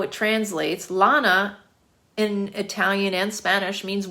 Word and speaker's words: Lana: I had somebody do that to me today, and I was like, Lana. My name is Lana. It's very simple. It's 2 syllables, La-na, L-A-N-A.